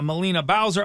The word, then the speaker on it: Melina Bowser: music the spotlight today with us is uh molina bowser i'm pronouncing your name right yes thank god i